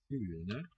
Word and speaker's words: Fuglene: Fuglene, silent G here.